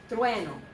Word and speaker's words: trueno: Trueno. Trueno. Thunder. Okay, 2 syllables only.